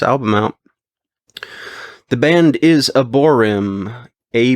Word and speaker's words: Aborym: to check this album out the band is aborm a b o r ym the album is Shifting negative um the way it's spelled out it's shifting uh do negative um